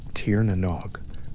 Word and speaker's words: Tír na nÓg: The way a particular valley maintains its particular quality of light, the pronunciation in modern Irish sits close to the older form. Tierog, the sounds softened by centuries of a